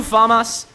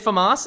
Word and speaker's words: FAMAS: Is it FAMAS? I don't know. I think it's stress on the second A.